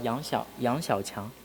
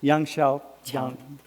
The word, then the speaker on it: Yang Xiaoqiang: So we are in, can you pronounce his name, my friend? Yang Xiaoqiang. Yang Xiaoqiang and Zijun.